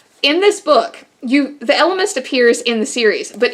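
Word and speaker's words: Ellimist: elements to chronicles uh i pronounce it elemist i think some people might say illimist but i've always said elemist so the elements chronicles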